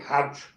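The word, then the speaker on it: Howth: came from County Dublin uh a town called how which is actually spelled h a WT I think but they pronounce it how and her dad used a local pub in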